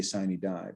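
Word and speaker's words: sine die: to tell me that i pronounce the latin phrase wrong that's fine i always say sign he die but sinai dies is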